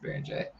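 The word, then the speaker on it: Beringer: Yoan Behringer is also a guy or Baron J. It's spelled Behringer but pronounced Baron J.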